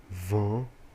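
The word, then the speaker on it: vent: notem que por exemplo na palavra vão eu tenho t e ele não é pronunciado isso faz parte do processo de evolução das nasais então geralmente quando vem uma consoante depois da nasal e não tem uma vogal igual el só tem um t puro ele não é pronunciado tá então é Van Van vamos ver depois também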